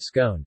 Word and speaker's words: scone: with the different pronunciations there are two possible pronunciations of the word scone the first rhymes with gone and the second rhymes with tone in u.s.